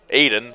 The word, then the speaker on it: Aodhan: As someone with a very unique name myself, Aiden, spelled Aodhan, I know all about mispronunciations.